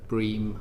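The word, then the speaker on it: BREEAM: highest sort of uh uh bream I believe is how the acronym is pronounced uh and lead uh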